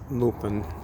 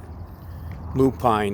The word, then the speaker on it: Lupine: We got another lupin. Lupine is the correct pronunciation of that.